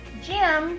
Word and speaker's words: gem: So when we say the word gem, is it j or is it g? J, j, gem starts with a soft G.